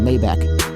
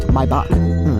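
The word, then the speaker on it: Maybach: be cap playay back in a mayback it's pronounced mybach your face says I'm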